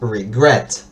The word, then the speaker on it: regret: Entonces, por ejemplo, en el caso de en el término regret, como que nosotros marcaríamos acá en regret porque es regret, ¿sí?